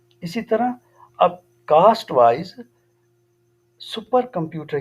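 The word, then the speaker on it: Wii: इट is portable game device, one और more person can play game. Xbox 360 made by Microsoft. We double आई इसको pronunciate we करेंगे, made by Nintendo.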